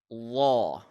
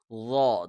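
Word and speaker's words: ظاء: Instead, it is Law. Okay? Law. The Z sound will be muffled, and it has an aw sound.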